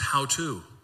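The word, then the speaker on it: hautou: It's spelled H-A-U-T-O-U, but it's pronounced how to.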